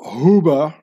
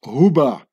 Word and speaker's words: Huber: And they become, from here it says, the Swiss Huber family. And they made it into Hoover, because the U in German is pronounced like a double O, like who. Ooh, you know, and the